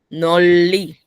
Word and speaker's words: 널리: Noli, Noli. Noli. 널리. Sí, doble L. Yo pronuncio las dos L.